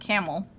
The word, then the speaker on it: Campbell: Actually, no, I pronounce it Camel.